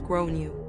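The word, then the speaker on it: Gráinne: the kid is called grain generally pronounced as grown you or thereabouts I tried to be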